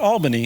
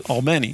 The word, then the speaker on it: Albany: pronouncing she's got all it's not Albany it's all many now let's take a